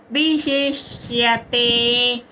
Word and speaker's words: విశేష్యతే: అండ్ ష ష నాలిక టిప్ ఈ పైన తగలాలన్నమాట ష మెత్తటి భాగంకి తగిలితే ష్య ప్రొనౌన్సియేషన్ కరెక్ట్ గా వస్తది ష ప్లస్ య ష ష విశేష్యతే మూడో చరణం ధ్యానాత్ కర్మ